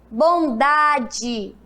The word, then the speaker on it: bondade: é com i saputi bondade bondade tem um fraco né E quando tem um som fraco significa que é a vogar o é com som de i Bondade e depois sabonete